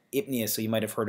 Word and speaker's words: pnea: It's spelled this kind of the same way, P-N. You have that P-N there, so it's that odd spelling. So it's actually ipnea, so you might have heard of dyspnea or hyperpnea.